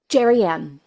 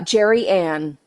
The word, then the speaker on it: Gerianne: Is it Dream Perez? Gerianne. Oh man, Darian. I Yeah, butchered it. I'm so Darian. sorry the first It's time. totally okay. I've been called Germaine, Germanium, all things. So Jerry Ann, and you're Darian. good to go.